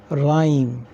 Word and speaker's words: rhyme: wrote read number three RH RH together H is silent so it will be pronounced for example rhm rhyme number four r r if